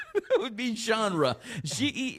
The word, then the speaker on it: genre: You've got a Z in the pronunciation with that one though. You said uh genre. Look how it says Z H O N. Genre.